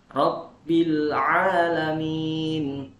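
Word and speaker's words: رب العالمين: Lalu yang kedua, kesalahan yang kedua adalah di ain. Ain jadi alif ya, dibaca alif ainnya. Al-alamin dibaca al-alamin. Nah, itu salah. Rabbil alamin.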